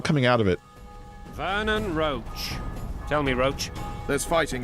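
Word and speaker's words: Roche: find it weird that even though it's spelled differently that there's two characters with the name roach in this universe Vernon roach and his horse Roach but it's just it's weird that they're said the same they they come from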